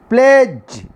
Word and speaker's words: pledge: D is a silent letter. We didn't pronounce D or da sound in this particular word. Pledge. What is the pronunciation? Pledge. Not pledge. Da should not be pronounced. Pledge is a correct pronunciation.